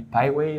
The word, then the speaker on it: Piwai: I pronounce it P-Y, but that was before I really learned English.